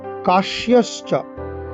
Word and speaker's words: কাশ্যশ্চ: কাশ্যশ্চ কয়াকার তালিব্য জফলা তালিব্য ছয় তালিব্য বর্ণ শয়ের উচ্চারণ করতে হবে।